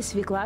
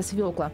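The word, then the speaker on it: свёкла: звонит вместо правильного звонит или свекла вместо свекла смущают и иллюстрации к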